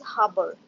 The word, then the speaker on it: harbor: It's not Harvard. It's harbor. Harbor.